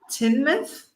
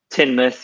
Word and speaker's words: Teignmouth: Which is spelt in the most, in the silliest way. I would imagine that mouth is part of it. Yeah. And it's pronounced Teignmouth? Teignmouth, yeah. Teignmouth. That's cool. Teignmouth. It's strange. Yeah. But the river is the River Teign.